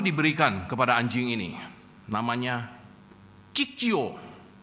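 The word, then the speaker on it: Cicio: Nah, Saudara, namun ee nama baru diberikan kepada anjing ini namanya Cik Jio. C I C I O ya. Bacanya begitulah. Cik gitu lah ya.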